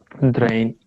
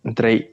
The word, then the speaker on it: drei: Drain. Drei.